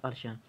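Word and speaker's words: Alcian: يعني ممكن اعمل لك الالسيان بلو او الالشيان بلو زي ما قلنا، ممكن تنطق الالسيان ومرات الالشيان both are right.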